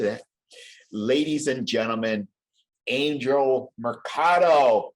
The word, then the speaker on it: Mercado: ladies and gentlemen angel mercado rhymes with avocado of the covergirl rhymes